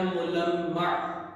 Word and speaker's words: ملمع: اس کو کوئی ملمہ پڑھ دے وہ کچھ پڑھ دے. یہ اصل میں ہے ملمع.